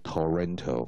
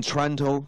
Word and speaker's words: Toronto: 人念，他不会念成 Toronto 哈，OK，好，那他个前